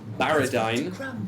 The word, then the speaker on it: Barridyne: Elven child is called to that same team baradine b a r r i d y n